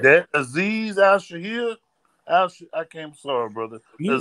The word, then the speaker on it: Aziz Al-Shaair: That Aziz Al-Shaair.